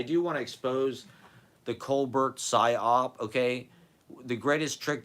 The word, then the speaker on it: Colbert: colar you know the guy's name is not Co bear it's Colbert it's Stephen Colbert I mean do the other people in his family pronounce it as coar maybe they do I